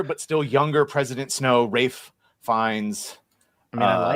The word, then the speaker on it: Ralph: Yeah, but he doesn't pronounce it Ralph. You Americans. He pronounced it Rafe.